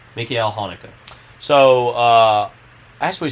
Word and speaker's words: Haneke: that you said forever it's michael hanecki but according to you it is uh mikhail hanukkah hanukkah yes hanukkah like the holiday the holiday yes uh